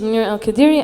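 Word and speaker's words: Monira Al Qadiri: it or yeah um so my name is minir Al kadiri I'm a visual artist from Kuwait and I'm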